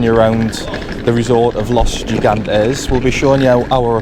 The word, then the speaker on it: Los Gigantes: It's Los G. Los Gigantes. Los Gigantes. Or Los Gigantes is the Spanish would call it, Jacqueline.